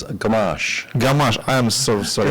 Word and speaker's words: Gamache: gen Logistics Capital gamachi do I pronounce it right actually just a little bit differently it's gash gash I am so sorry it's okay it's it's softer and gentler okay uh hello